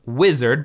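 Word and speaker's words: Uizard: I believe it's pronounced Wizard, but it's U-I-Z-A-R-D.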